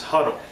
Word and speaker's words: Hudl: and that is the film program known as huddle that it's spelled h u DL huddle is a program